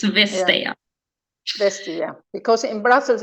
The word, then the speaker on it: Vestager: Vestager. You Vestager. don't pronounce the T. The T is silent in Danish.